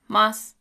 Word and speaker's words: ます: The verbal suffix in the present tense in polite colloquial speech is also pronounced mas, but spelled masu.